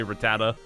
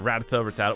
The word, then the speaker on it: Rattata: I say Rattata, but some people say Rattata, or Rattata, whatever. However you want to pronounce it, Rattata.